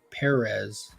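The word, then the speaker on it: Pérez: out live on stream that's how he pronounced his last name if you say George Perez he correct you Perez do you smell burnt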